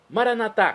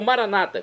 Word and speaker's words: Maranata: E agora eu clamo, Maranatá, como dizemos nós católicos, é do dialeto de Jesus, o aramaico, ou Maranata, como dizem nossos irmãos separados das comunidades evangélicas ou protestantes. Não importa, a pronúncia, o significado é o mesmo.